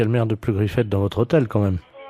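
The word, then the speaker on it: Pleugriffet: Oui, de Pleu-Griffette. Alors, P-R... Comme ça se prononce, hein, Pleu-Griffette.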